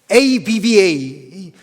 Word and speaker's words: Abba: 우리말의 이 아빠가요, 여기 아빠 있죠, 아빠. 와, 헬라어하고 발음이 똑같아. 여러분 아세요? 네? 헬라어하고 발음이 똑같으니까. 예수님이 기도할 때 이게 아빠, ABBA.